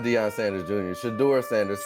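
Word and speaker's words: Shedeur: Shador Sanders.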